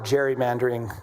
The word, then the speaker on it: gerrymandering: It's is uh the legislator from Massachusetts who uh gave rise to the word gerrymandering, which is how we say it. It's name was Gary. So gerrymandering, a nationwide gerrymandering war is now in